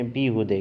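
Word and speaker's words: بیهوده: ہودہ ہے، ٹھیک ہے، فارسی میں فقط تلفظ کا فرق ہے، باقی کوئی فرق نہیں۔ ہم کہتے ہیں بے ہودہ، فارسی میں کہتے ہیں بیہودے۔ کیا پڑھنا ہے؟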